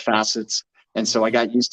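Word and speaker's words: FAssets: it'll go to Songbird it's pronounced facets I'll call them F assets but I get it if it's called facets it's just I'm so dude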